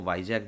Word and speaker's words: Vizag: विशाखापट्टनम स्थित विजाग इस्पात संयंत्र, इसको वाईजैग भी कहते हैं, VIZAG इसका स्पेलिंग होता है।